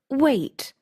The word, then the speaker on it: weight: It's pronounced weight. Like wait.